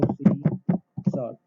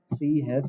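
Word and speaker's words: C#: इसका प्रोनाउंसिएशन होता है सी शार्प, सी हैश नहीं बोला जाता है।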